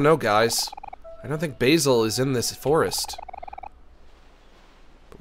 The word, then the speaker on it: Basil: did I miss uh basil might be dead and it's pronounced basil he might be dead